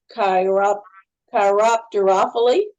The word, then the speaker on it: chiropterophily: hey, someone also asked about the pronunciation of chiropterophily. Oh, good. So, you said it nicely. That sounds good. I like Philly. Apparently that's the correct pronunciation, chiropterophily.